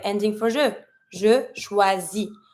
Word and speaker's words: choisis: Je choisis. I'm not going to pronounce my S, it's not an R. Je choisis, tu choisis. It's going to be the same ending, IS. I'm not pronouncing the S.